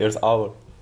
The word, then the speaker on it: Earth Hour: Oui, en fait, ça se prononce presque comme en français, c'est Earth Hour.